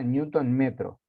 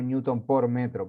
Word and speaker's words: newton metro: Y acá, fíjense, como es una distancia por una fuerza, newton, y acá tengan cuidado, esto usualmente se pronuncia newton metro, no newton por metro, porque newton por metro sería dividido, eso es una cosa